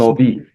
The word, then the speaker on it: Yaghnobi: How do you pronounce this? Yaghnobi.